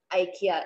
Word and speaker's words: IKEA: so the pronunciation is not yeah it's ikea ikea it is pronounced as ikea and you can go and